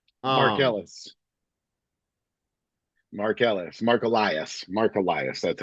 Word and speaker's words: Elias: something in co um the the lawyer firm that he that he tried to um Mark Ellis Marqueellis Mar Elias Marolias that's how you pronounce it Elias and Elias yeah Elias yeah something along Yes.